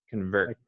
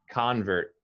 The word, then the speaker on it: convert: noun it's pronounced differently as a noun you emphasize the first syllable convert like i am a